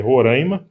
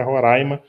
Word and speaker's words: Roraima: Roraima é uma palavra indígena, então, ao invés de dizer Roraima, está errada a pronúncia, é Roraima, com AI aberto.